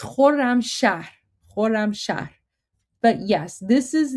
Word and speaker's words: Khorramshahr: So even though Jabe didn't spell it correctly, that's hard. That's hard, but you got it. It's the Khorramshahr. It's the Khorramshahr missile. So there you go. It's Khorramshahr.